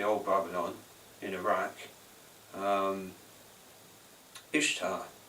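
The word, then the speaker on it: Ishtar: Babylon in Iraq um ishar uh pronounced Easter uh uh but yeah ishta uh she was a pagan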